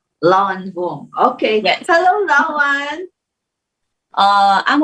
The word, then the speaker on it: Loan Vong: Did I correctly pronounce it? Yes, Loan Vong. Lawan Vong.